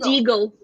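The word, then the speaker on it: Déagol: Deagle. Deagle. It rhymes with. Yeah, it rhymes with Smeagol.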